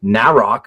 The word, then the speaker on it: Naerok: symbol is um like is supposed to be pronounced like the ah and cat. So, it would be narok.